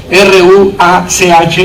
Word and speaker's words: Ruach: Y el versículo 29 dice: y exhaló Isaac el Espíritu, el Ruach. Así se escribe en el hebreo, R-U-A-C-H, y se pronuncia J, Ruach.